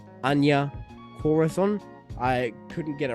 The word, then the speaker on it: Anya Corazon: character of, like, I think her name is pronounced Anya Corazon.